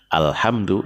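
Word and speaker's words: الحمد: Ya karena dia hamzah wasalnya bersanding dengan lam ta'rif, maka dia dibaca fathah.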